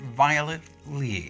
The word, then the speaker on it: Violet Li: Her name is Master Violet Lee.